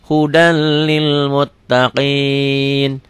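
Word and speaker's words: هُدًى لِّلْمُتَّقِينَ: hudal masuk aja melebur tulisan dan bacaan beda ditulisnya ada n-nya dibacanya n-nya hilang Huda Lil Muttaqin ulang hudalil Muttaqin mirrobihim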